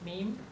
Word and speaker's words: meme: So meme is the term that comes from Richard Dawkins because he wants to have some words that have that rhymes with gene.